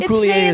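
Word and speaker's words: Coulier: Uncle Jo Dave Dave Couier. That's French pronunciation. There you go. My pinky go up like Dave Kier is correct.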